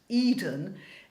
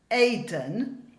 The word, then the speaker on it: Eden: Actually, maybe a bit more than that, because the word, which we in English pronounce Eden, is pronounced in Hebrew, Eden, and that's a word